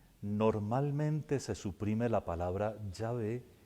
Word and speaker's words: Yahvé: no sabe leer hebreo, porque Yahvé o Javé, con las vocales que corresponden a mi Señor, es una lectura equivocada, pero dice Jehová.